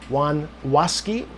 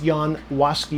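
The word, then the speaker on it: Jan Łaski: Latin as John Elasco, Juan Wasi or I'm sorry, Yan, not Juan, it's Yan Wasi is the pronunciation there.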